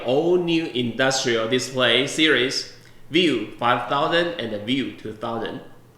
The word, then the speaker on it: VUE: is to unveil all new industrial display series view 5000 and the view 2000 the most diversified